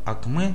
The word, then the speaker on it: акме: вообще по сути говоря слово АКМ ударение на последнюю букву е это достаточно популярно известное